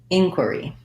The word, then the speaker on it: inquiry: in query inquiry er it just has the er sound so it sounds like in quer e inquiry um we made an